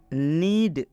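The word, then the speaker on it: knead: नीड, के बाद एन आया है, आप देख सकते हैं स्पष्ट, के बाद क्या आया है, एन आया है। और जब के बाद एन आएगा तो के साइलेंट हो जाएगा।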